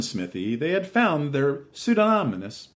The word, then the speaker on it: Smithee: But how to pronounce that? Smith? Smythe? Smithee? When someone in the room said Alan Smithee, they had found their pseudonymous persona.